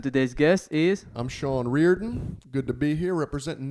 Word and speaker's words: Riordan: You can't have the first name Ashlyn and not be able My to say name is Riordan.